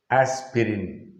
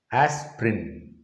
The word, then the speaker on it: aspirin: it is aspirin aspirin natural pronunciation or the native pronunciation is aspirin asp rim as prim so i that vowel is dropped not as spirit aspirin another interesting word